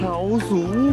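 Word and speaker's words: 豪猪: You must pronounce it Hao Zhu.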